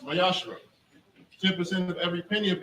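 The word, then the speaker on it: מעשר: You can find this in Numbers 18, verse 21, Malachi 3, verse 8 through 10, means tenth in Hebrew and is pronounced Mayashra.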